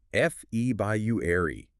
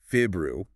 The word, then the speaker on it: February: My vacation is in f by you airy or you could say fibru. People will understand both.